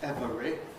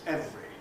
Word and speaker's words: every: So the word every, perhaps once upon a time was every, but in present day English it's certainly not every, it's every, and it's only 1 2 syllables.